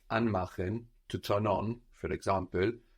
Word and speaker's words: anmachen: So anmachen, to turn on, is from an and machen. Is anmachen a separable verb? Can it split? Yes, it is. Why? Because the stress is on the and part.